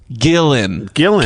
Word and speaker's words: Gillen: Pronounced like the breathy part, or no, I think he went breathe. He's trying to go breathy. The breathy part of the fish plus the opposite of out. Gillen.